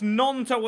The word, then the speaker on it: Gnonto: I have been told it's Gnonto as well. Got the name wrong still.